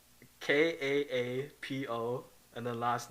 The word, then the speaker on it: Kaapo: Kaapo, and then last name Kako.